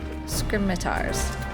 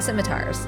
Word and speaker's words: scimitars: It is my hope you might catch them and deliver these scrimmars or scrimmars. Scimitars. Oh, they're going to have a skirmish for the scimitars. Say it like that.